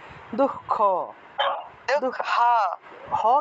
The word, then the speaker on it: দুঃখ: উচ্চারণ দুঃখ কি দুঃখ দুঃখ হ কেন হবে দুঃখ খ কেন হবে হ না তো এই যে দুখ খ আছে না দুঃখ খ খ উচ্চারণ করবেন দুঃখ দুঃখ এই যে দুঃখ হ্যাঁ দুঃখ খ উচ্চারণ করতে হবে দুঃখ খ কেন বলেন